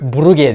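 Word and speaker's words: Brugge: toplantısını izledim maç sırasında kulüp Burger diye okunuyormuş herhalde Flemenkçe okunuyor Çünkü Belçika'da enflament jennif Fransızca konuşulan kısım var Buruş herhalde Burger diye okunan yani Flemenkçe olan kısımda o yüzden Okan istifa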